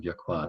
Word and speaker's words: Yakwa: I'm going to modify that spelling of Yakwa there to show you can stress the last syllable of it there.